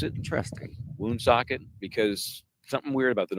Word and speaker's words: Woonsocket: Looks like it Oh. actually is pronounced. Oh, Michael. Kind of like it sounds.